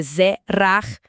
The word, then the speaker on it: Zerach: A pronúncia é Zerach, com aquele che gutural lá do fundo da garganta.